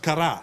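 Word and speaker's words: Carrà: And it's pronounced Cara.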